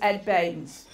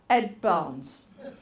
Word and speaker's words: Baines: chef at which was ed baines so what did i introduce him as ed barnes so he said it's easy my name rhymes with uh brains so what did i